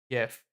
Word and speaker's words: GIF: It's obviously pronounced with a soft G as in giraffe. Geez, don't tell me you're one of those weirdos saying it with a hard J, Erthar.